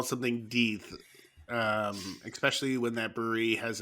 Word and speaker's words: Death: My comparison was to Revolution's when they do Death by Charity. I think it's pronounced. I know it's pronounced Deeth, but I can't say that, man. I can't say Deeth.